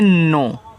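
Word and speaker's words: know: [गला साफ़ करने की आवाज़] के एन ओ डब्ल्यू को पढ़ते हैं नो। तो देखो के के साथ के के बाद अगर एन रहे तो यहां के जो होता है आपका साइलेंट होता है।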